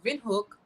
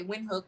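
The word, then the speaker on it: Windhoek: actually only here in Vin hook uh I know we say win hook but I'm trying to try to pronounce it I guess the way they would you know in German but in windhook I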